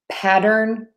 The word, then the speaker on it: pattern: all right so patter patter patter and then pattern pattern pattern so I think the question was